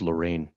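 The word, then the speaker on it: Lorreign: e i g n I think that's pronounced Lorraine no all right thank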